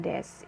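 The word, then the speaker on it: です: akhir Andes atau decu ditulisnya ya cuma dibacanya Des gitu ya Hai nah Kalian juga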